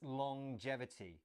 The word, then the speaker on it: longevity: live longer yes now take note about the pronunciation of this word it's a little bit strange it's longevity so we have the at the end of long as normal but then there's this J sound as well longevity let's look at